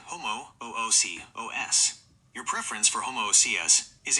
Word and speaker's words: homoousios: In original ancient Greek, the accent actually falls on the antepenultimate, third from the last, syllable, ou. This is written with an acute accent over the diphthong, ho-mo-ou-si-os. When pronounced with Greek stress, it sounds like ho-mo-ou-si-os.